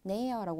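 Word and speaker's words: näher: 그래서 회어라고 발음하시면 돼요. 그리고 획스트가 되겠네요. 다시 좀 돌아오게 됩니다. 자, 나 하면은 가까운이라는 뜻이고요. 마찬가지로 네어라고 하시고 마지막에 뭐는 최상급은 넥스트라고 해서 이렇게 체가 추가가 또 되게 됩니다.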